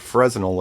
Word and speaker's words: Fresnel: I was told not to say the R, so it's not Fresnel, it's Fresnel.